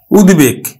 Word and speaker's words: উদ্বেগ: জন্য হবে এটা হচ্ছে উৎ উপসর্গ যোগে গঠিত শব্দ যেমন দেখো আমরা উচ্চারণ করি কিন্তু উৎ বেগ উদ্বেগ আবার দেখো উদ্বেলিত উদ্বে লিত